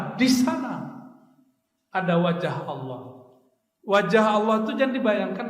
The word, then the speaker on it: Allah: Cuma orang nyebut Allah itu enggak ngerti karakter bahasa Arab. Dalam bahasa Arab kalau awalnya A bacanya Allah. Kalau lillah.